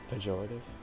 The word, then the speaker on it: pejorative: How do you pronounce it? Pejorative? Yeah, pejorative.